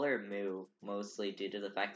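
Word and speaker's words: Moe: And, her name was literally Moo. But it's spelled M-O-E. It was like Mo, but they pronounced it Moo.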